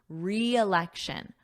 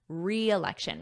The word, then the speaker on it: reelection: he's campaigning again and notice that pronunciation we have a strong e sound a long e re reelection reelection repeat after me reelection you might be